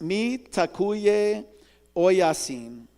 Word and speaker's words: Mitakuye Oyasin: It's pronounced mi takuye oyasin. It's from Lakota.